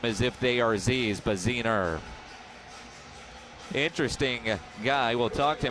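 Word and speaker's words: Bassuener: away baziner spells his name b-a-s-s-u-e-n-e-r but it's pronounced bezener as he's back to throw on second down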